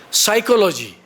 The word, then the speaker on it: psychology: that s is silent psychology p is silent honesty H is silent